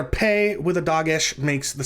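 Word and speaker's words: פא: Without the dagesh, the pei is pronounced like ph in alphabet, but because it's the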